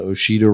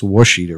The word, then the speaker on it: Ouachita: on earth along the what I thought was called the hoshido River but apparently it's Ouachita River I pray I'm pretty sure I pronounced that many times the wrong way over the years but this comes from